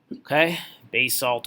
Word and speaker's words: basalt: granite new bullet basalt basalt or basalt that one's kind of pronounced both ways I'm gonna pronounce it basalt basalt is extrusive okay